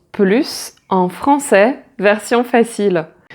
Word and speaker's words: plus: Par exemple, cette voiture roule plus vite, elle est plus rapide, elle coûte plus cher, elle est plus cher. Là, tu as des adjectifs et des adverbes et on ne prononce pas le s.